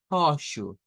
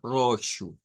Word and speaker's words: roxo: Si lo hacemos con la H aspirada, oshu, oshu. Bien, ahí estaríamos. Y nótese que hay algunas variantes, por ejemplo, algunos, bueno, en algunos casos se puede pronunciar con R fuerte, sobre todo nos dice en el sur de Brasil y en las zonas rurales de Portugal. Ahí podría sonar como roxo. Bueno, vamos a dejar este